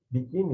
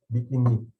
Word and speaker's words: biquíni: E aí, quando elas se lembram da regra de que palavras não acentuadas, terminadas em i, são oxítonas, como peri, saci, rubi, elas percebem que se biquíni não tivesse acento, ele seria pronunciado como biquini.